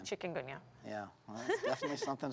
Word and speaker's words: Chikungunya: And we pronounce it chicken. Chikungunya.